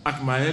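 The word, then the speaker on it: Agtmael: Akmael, ça s'écrit A-G-T-M-A-E-L.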